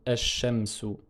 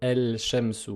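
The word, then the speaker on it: الشمس: Donc on dit ash-shamsu. On ne peut pas prononcer el-shamsu.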